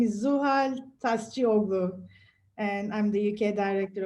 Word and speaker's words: Tascioglu: please please tell me what your surname is pronounce it properly for me thank you sarah my name is zuhal tastioglo and i'm the uk director of ivf turkey